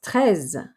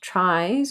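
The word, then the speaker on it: treize: 13 bags it is tres not tries or trees as in 14 cats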